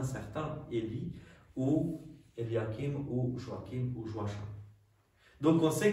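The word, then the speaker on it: Joachim: diminutif de Eliakim et Eliakim ou Joakim c'est la même chose qu'on peut prononcer aussi Joachin j'ai déjà entendu des gens qui s'appellent en Belgique Joachin s'appelle Joachin ou Joakim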